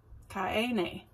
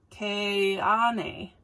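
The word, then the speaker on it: Keane: So, do you know how they say it? Ka-e-ne. No, the A is second. Ka-ne.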